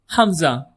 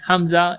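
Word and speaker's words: ء: Next alphabet is Hamza. Hamza glottal pose. Hamza is not a standalone sound. It's more like a gloal stop helping join or separate vowel sounds.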